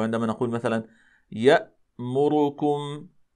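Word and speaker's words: يأمركم: نقول مثلا مثلا مثلا يامركم يامركم ولا نقول يامركم هكذا يا هكذا نقلقل الهمزه هذا لا يصح اذا كما ذكرنا كما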